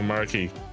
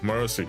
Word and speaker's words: Mercy: Is it Mercy or Marky? Oh. Hi there. I'm good. How's you doing? How do you pronounce it? Oh, Mercy. Okay, I was right. Like Mercy.